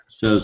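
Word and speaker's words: Samhain: or a paragraph here from the encyclopedia britanica says that in ancient Britain and Ireland the Celtic Festival of saan that's spelled Sam h a i n but it's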